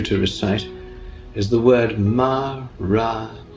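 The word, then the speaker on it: Maranatha: And the word I recommend you to recite is the word Ma-ra-na-tha. That's 4 equally stressed syllables.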